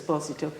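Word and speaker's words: Esposito: okay it's well definitely I can confirm the the doublin pronunciation of his posito because generations of people who went through the Oram for their music exams I mean Rona Marshall and others it was always as posit to and my grandmother who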